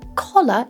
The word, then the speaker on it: collar: So yeah, we do need to make a distinction between these two sounds, a and o. Color is couleur and collar is le col.